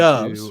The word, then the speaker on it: Doubs: like uh you know dupes for uh can we do this again so how are we pronouncing it right it's we looked before the show and i guess it's dubs according to dubs right i'm going to